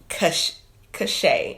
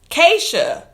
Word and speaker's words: Keysha: Is it cachet? Yes, I got it. Keysha. I'm still saying it wrong. Keysha. I cannot read today. Listen, my brain is on one today, because that clearly says Keysha.